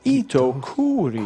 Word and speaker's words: Itokuri: Pronounced Itokuri.